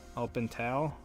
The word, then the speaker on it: Alpental: days skiing this year the pronunciation for the next ski area is El pintal Alpental up and Tall Al pintail open tall 44 by 20 okay